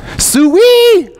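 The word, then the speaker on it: souri: wouldn't believe what the word for smile is it's an Arkansas fan suey my kid that's how you say it you say suey that means smile it took me a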